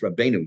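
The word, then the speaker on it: Rabbeinu: let me back up when I kept saying reab Yona it's not it's rabeno y I said it wrong I knew I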